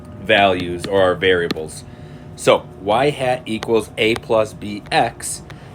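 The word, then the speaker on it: ŷ: It's going to be y hat, and that's how it's pronounced, y hat equals a plus bx, which we're very familiar with as y equals mx plus b.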